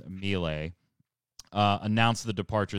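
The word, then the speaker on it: Miele: executive uh laura mia i'm gonna pronounce this wrong i think it's milay uh announced the departure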